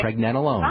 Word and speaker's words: pregnenolone: It's only got 3 or 4 parts. Pregnant, right. Nen, rhymes with Ben, nen, pregnen, alone, like you're all alone. Okay. Pregnenolone.